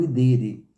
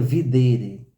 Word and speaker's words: videre: o verbo ver né porque o latim pronuncia o v pronuncia u né por isso que a gente fala o idere Mas se a gente fosse ler no português seria videre seria o verbo ver então isso significa o